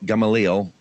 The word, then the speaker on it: Gamaliel: all right go ahead rabbi nina b gamaliel gamaliel is that am i pronouncing it correctly yeah okay rabbi hanina b